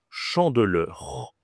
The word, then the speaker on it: chandeleur: Cette fête, ça s'appelle tout simplement la chandeleure. La chandeleur OK la chandeleur, pas facile. Ici, tu as une nasale, le en ici, tu as e heur chandeleur.